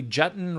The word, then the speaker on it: Jutton: Mary Jutton, rhymes with button, she told me, is she's having the money conversation.